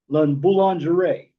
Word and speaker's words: La Boulangerie: La Boulangerie. I'm not French, but I did pronounce that right.